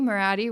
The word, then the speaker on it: Moratti: Moratti rhymes with karate.